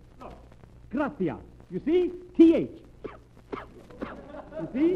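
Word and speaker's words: gracias: no no no not gracious that word is graas you see in Spanish the C is pronounced th look graia you see th you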